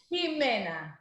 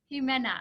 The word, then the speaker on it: Ximena: So for the listeners or the viewers today, can you share with us how to actually pronounce your name properly? Ximena. Ximena.